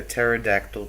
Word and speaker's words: pterodactyl: you ever heard a pterodactyl P before because their p is silent Jeff yeah the